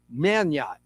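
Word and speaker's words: Meugniot: The G might be silent. Let me just say that Will's last name is spelled M EU G N I O T. Will Manot and he was born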